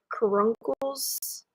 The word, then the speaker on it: caruncle: Caruncles is how you say it.